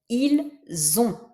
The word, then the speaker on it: ils ont: Dans le deuxième cas, on prononce z, comme un z, parce que c'est ce S là qu'on prononce.